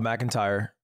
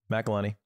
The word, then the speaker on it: McElhenney: Mac is Rob McIntyre. Because he owns the team. Wrexham, that's that McIntyre? Guy. Isn't it McIntosh? McElhenney? McElhenney.